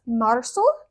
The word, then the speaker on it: marzo: And yes, I did pronounce the Z as an S, marzo.